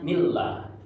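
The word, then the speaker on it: بسم الله: Lafaz Allah itu ada kasroh bertemu lafaz Allah, namanya tarki. Tarki itu dibacanya tipis ya. Jadi bacanya millah.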